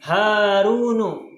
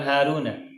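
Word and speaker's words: هارونُ: Hamzah tuh dan sebagainya maka dibacanya adalah Haruno bukan Haruna karena nama orang satu orang laki-laki rahmadu jibrilu dan lain-lain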